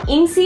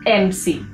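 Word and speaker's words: MC: इट्स नॉट इनसी, इट्स एमसी, right?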